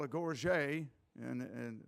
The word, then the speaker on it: gorget: what was called a Gorge and and French always waste a couple of syllables and when they pronounce things but the gorget is wear it on